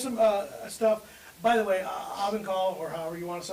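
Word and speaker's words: Ovangkol: I say Ovenkal. I say Ovenkal. Ovenkal. Tomato, tomato. I don't. I had somebody that told me I had to put the G in there. Avonkel.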